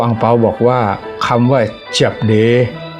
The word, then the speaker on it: 叔爹: บอก ว่า คำ ว่า เจบ เด้ ที่ มี คำ ว่า เจียบ อย่า ออก เสียง เจี๊ยบ สำเนียง ไทย เจี๊ยบ ให้ มี ตัว โอ เสียง โอ ผสม ใน เจี๊ยบ ด้วย ก็ เป็น เจบ ไม่ ใช่ เจี๊ยบ ออก เสียง จับ ใน